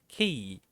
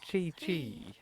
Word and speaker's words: Qi: That's key. Add it twice, you got key, not chi.